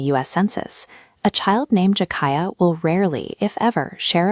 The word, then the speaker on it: Jakiah: Listen to how the name Jakiah lands. jah-KIE-uh. 3 distinct syllables that settle into a rhythm like a soft drum beat.